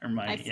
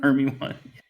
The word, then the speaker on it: Hermione: I did that with Hermione growing up. Hermione. I totally butchered her name until I got the audio book. That's a very I can't even tell you how I like her her one or something. Hermy one.